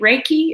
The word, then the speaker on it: Reiki: attuned with rec I Reiki rate Reiki is how you say it and even though the